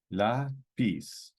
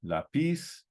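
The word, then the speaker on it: lápiz: for pencil we have La pis okay ends in a consonant it's according to the rule La piece but this word is pronounced lapis so we need to write an accent on it all right um now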